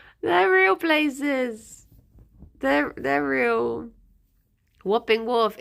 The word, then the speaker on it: Wapping: Whopping Wharf. It's spelt like WAP. W-A-P. Whapping Wharf.